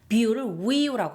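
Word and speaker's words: วิว: V 우리는 뷰라고 읽잖아요. 뷰. 그런데 여기서 태고에서는 V를 W 발음으로 발음을 해요. 그러니까 이렇게 되는 거죠. 위라고 합니다.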